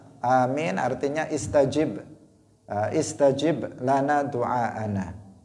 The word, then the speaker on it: Amin: Amin. A-nya panjang, mim-nya panjang. Amin. Bukan amin. Bukan amin. Bukan apa lagi? Bukan amin, bukan amin, bukan, tetapi amin. A panjang, mimnya juga panjang.